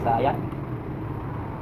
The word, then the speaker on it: cyan: Ito ang pronunciation dyan, cyan.